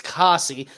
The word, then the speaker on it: Cassie: not Casey. It's Cassie.